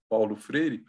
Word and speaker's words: Paulo Freire: Parmi ces efforts d'une éducation critique, je peux citer bien sûr Paulo Freire, et pardon, mais je voudrais prononcer son nom en brésilien, Paulo Freire.